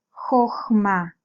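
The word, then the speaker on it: חָכְמָה: Kamatz katán porque está sonando como una O. Es una O breve. El kamatz katán habíamos estudiado que es una O breve. Y está en una sílaba cerrada, no acentuada.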